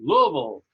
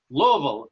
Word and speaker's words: Louisville: happens that I'll I'll say it the way it's pronounced Louisville Louisville uh I was born